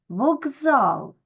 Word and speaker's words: вокзал: записуємо так як вимовляємо в слові вокзал ми букву К вимовляємо дзвінко як Ґ вокзал Так чому Тому що